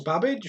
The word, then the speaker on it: Babbage: 24 what did charles babbage rhymes with cabbage invented in 1935 it